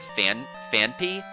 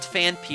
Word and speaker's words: Phanpy: It's called Phanpy, and I keep wanting to add an extra H at the end and call it Phanpy, which sounds right to me, but it's wrong. And it's Phanpy.